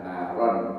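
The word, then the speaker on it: نارًا: Nar dalam kondisi nasab adalah naron bacanya ya.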